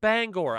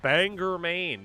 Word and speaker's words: Bangor: It's pronounced Bangor. I don't know where the people got to Oh, that's Banganger. No one says that here. Nobody says that ever.